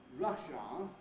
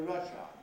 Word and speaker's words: Russia: of the country russia of course all native english speakers have a schwa wow a central vile at the end of that word most non-native speakers tend